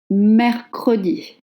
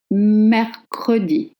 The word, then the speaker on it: mercredi: If two consonants precede the letter E, then you have to voice it. Mercredi. Mercredi. Wednesday. Mercredi.